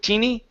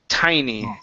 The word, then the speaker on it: tiny: Instead of teeny, tiny.